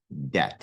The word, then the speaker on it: debt: You are in debt to that person. Okay. Debt. And again, don't pronounce the B there. That B is silent.